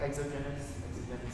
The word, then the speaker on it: exogenous: Exogenous, is that how you pronounce it?